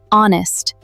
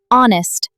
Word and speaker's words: honest: Because the H is silent. We don't pronounce it. Listen carefully. Hour, honest, honor, air. So we say an hour, an honest person, an honor, an